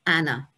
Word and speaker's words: Anne: was soon shortened to what we would say and but they would uh pronounce it in the continental way of anna now i particularly find